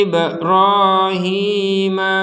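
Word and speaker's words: إِبْرَاهِيم: kita lanjutkan mim Maqi Ibrahim ada ba sukun kita pantulkan ib ib nah ini kalau bedanya dengan yang di atas kan enggak boleh ini ID enggak boleh kalau ini memang wajib Ibrahim jadi kalau kita harus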